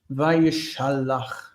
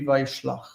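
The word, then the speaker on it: וַיְשַׁלַּח: And remember that PL, you want to include that internal vowel that's been locked into place. Vayishalach. Don't let it be Vayishlach. Vayishalach. It's locked into place, that vowel, with a close syllable.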